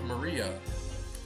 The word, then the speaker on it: Maria: is a funky little cross of course it's pronounced maria the third character looks like a cross which